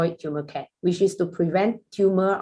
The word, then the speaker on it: Turmercare: meaning to this name we pronounce this product as tumor care rather than public will probably read it as a thermal care but we say this is a tumor care which is we